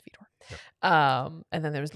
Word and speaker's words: Widor: from his Fifth Symphony, spelled with a W. It looks like Widor, but it's Widor.